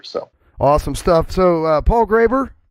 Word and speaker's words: Graber: So Paul Graber, pronounced it correctly that time, right?